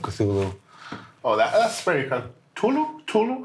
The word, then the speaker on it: Cthulhu: Tulu? How do you pronounce it, actually? I say Cthulhu.